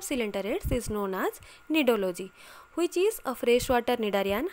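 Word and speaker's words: cnidology: neurology and neurology here the spelling is different that is c n i d o l o g y and n i d o l o g y but the pronunciation is same but the correct answer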